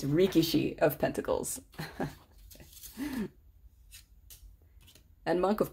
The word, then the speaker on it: Rikishi: of Pentacles, which I already forgot how to pronounce it. It's Rikishi of Pentacles.